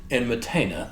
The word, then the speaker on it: Enmetena: Got his name wrong a minute ago. Enmetena, the guy who commissioned the Stele of Vultures, and a couple of other record inscriptions.